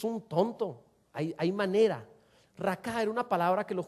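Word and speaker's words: Raca: para necio es una palabra que es raka con acento en la a raka así como se oye esta palabra es es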